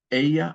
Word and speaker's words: ella: Ella, and I'm sorry, the other subject pronoun is ella. The double L is pronounced like a Y.